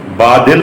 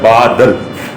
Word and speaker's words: بادل: کو بھی دیکھ لیں۔ ہم بادل پڑھتے ہیں، لیکن یہ درست لفظ جو ہے وہ ہے بادل۔ ہم مشرق پڑھتے ہیں،